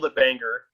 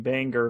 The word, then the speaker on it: Bangor: Bangor picking flowers, and this is just an example of what my brother was like.